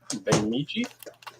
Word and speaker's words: Bemidji: And for Calvin, Prime Time on YouTube says I am in Bemidji. Is that how it's pronounced?